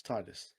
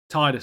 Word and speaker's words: Tidus: It's Tidus. Tidus.